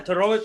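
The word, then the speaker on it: Todorović: We got Punahale Soriano taking on Dusko Todorovic. That's how you say it? Yeah, Todorovic, that's my man.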